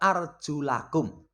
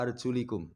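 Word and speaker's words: وَأَرْجُلَكُمْ: Kenapa dibaca arjula? Itu diatofkan kepada faghsilu wujuhakum wa aydiyakum. Coba dibaca. Mungkin kalau mau coni itu orang yang bacanya merdu. Faghsilu wujuhakum wa aydiyakum ilal marafiq wamsahu biruusikum wa arjulikum. Wa arjulikum. Orang konangan itu. Tapi nanti ketika orang cek, salah ini. Karena kaki bukan diusap.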